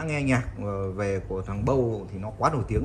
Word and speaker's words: Bose: anh em nhiều tuổi cũng hay gọi là BOSS tại vì mình cứ thấy đọc ở đây